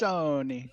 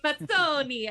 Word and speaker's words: Mazzoni: And he, Mazzoni. Mazzoni, I got to do it with the It fingers.